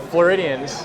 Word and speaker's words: Floridians: Now this is interesting because, and so Floridians, am I saying that right? Floridians, yeah, you're saying it right.